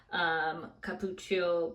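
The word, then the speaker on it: cupuaçu: It has fragrance, but it also has some hydrating things like jojoba, cappuccio butter, that's how you pronounce it, glycerin.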